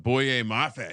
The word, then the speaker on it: Boye Mafe: Boye Mafe.